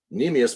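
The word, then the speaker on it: cnemius: make sense and then nemus spelled with a c c NE m i u s but C silent nemus means leg so this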